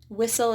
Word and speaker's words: whistle: Whistle is whistle. Next up is silent U.